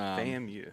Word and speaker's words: FAMU: this group yeah Doug that is a FAMU I believe it's how it's pronounced um FAMU yep FAMU it goes by yep that's the term